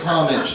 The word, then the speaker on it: homage: So please say homage. That's the way it's pronounced.